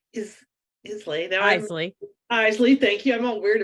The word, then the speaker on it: Isley: is Lay or is how do you pronounce it Eisley yeah you're not even close enough um you